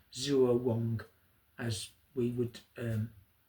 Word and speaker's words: zuowang: the the Darist tradition and it's known as Zuo Wong. Zuo W A N G Zuo Wong as we would um spell it in our in our um in our form of writing.